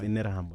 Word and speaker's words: Interahamwe: It's pronounced Interahamwe. No, I've heard it being pronounced in Terra.